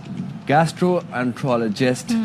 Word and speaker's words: gastroenterologist: Hasan Memon, who is an assistant professor consultant gastroenterologist.